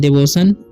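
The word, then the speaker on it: devotion: य का ठीक है यहां पर टी आई ओ जभ किसी साथ में ना तो टी का उच्चारण स हो जाता है ठीक है तो डिवोशन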